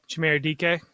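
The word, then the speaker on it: Chimere Dike: Is it Shimray DK? Chimere DK?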